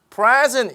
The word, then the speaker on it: present: present 이렇게 읽는데요. 강세를 앞에 두고 읽으셔야 됩니다.